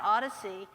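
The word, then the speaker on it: OHDSI: is a project called Odyssey it's observational health data Sciences informatics we pronounce it Odyssey it's coordinated by Columbia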